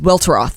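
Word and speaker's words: Welteroth: name I think it's well well drop its welter off yeah that is how you pronounce it well trust her she says it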